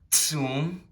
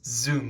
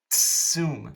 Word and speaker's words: zum: Keep in mind, this Z in German, this Z is pretty much always, except in some English loaner words, pronounced with a, like a TS would be in English. It is not pronounced Z, not bis zum nächsten Mal.